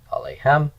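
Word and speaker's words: עֲלֵיהֶם: Accent is on the final syllable, alehem.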